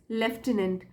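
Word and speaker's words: lieutenant: the soldier ask हिज लेफ्टिनेंट इसको लेफ्टिनेंट pronounce करते हैं स्पेलिंग आप देख लीजिए एल आई ई यू टी ई एन ए एन टी लेफ्टिनेंट है ना ऑफिसर होता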